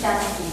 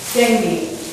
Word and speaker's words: dengue: How to pronounce dengue fever? Dengue.